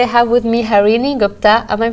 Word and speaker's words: Gupta: Today I have with me Harini Gupta. Am I pronouncing your last name Yes.